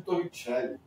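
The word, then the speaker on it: Torricelli: E por último, pessoal, finalmente, por último, mas importante, a famosa equação de torre chelly. Torre chell. Torri chell. Torrell. Se escreve Torre Cell, mas se fala Torre Chell porque é italiano.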